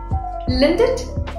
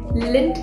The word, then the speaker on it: Lindt: Lindt? No, it's actually Lindt chocolate.